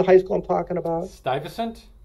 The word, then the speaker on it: Stuyvesant: Stuyvesant. Stuyvesant.